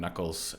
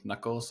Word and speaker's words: Nuckolls: Nuckolls, you pronounced it just right.